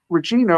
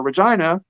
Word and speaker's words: Regina: be it used to be Regina or Regina, depending on how you pronounce it from what part of the world, but it's Rex now.